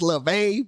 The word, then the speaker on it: LaVey: Trying to say his name wrong on purpose. Anton LaVey, like, bitch, you know it's LaVey, bitch.